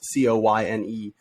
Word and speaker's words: Coyne: I guess it's pronounced Coyne. It's Coyne.